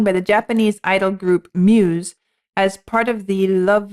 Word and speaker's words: μ’s: I have a little bit of assistance here saying pronounced Muse.